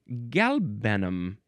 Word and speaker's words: galbanum: akin to the Hebrew word halbenach, which means galbanum. How do we pronounce this word?